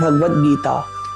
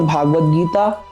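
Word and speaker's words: भगवद्गीता: प्रायः लोग सबसे बड़ी गड़बड़ी कहां करते हैं? नामो उच्चारण में कर देते हैं। जैसे लोग कहेंगे श्रीमद् भागवत गीता और श्रीमद् भागवत। देखिए श्रीमद् भगवत गीता और श्रीमद् भागवत महापुराण आपस में भिन्न है और इस विषय पर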